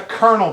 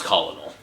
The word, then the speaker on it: colonel: I was like I got you that's a colonel by the way no it's colinal yes spelled like that but it's pronounced currently he's doing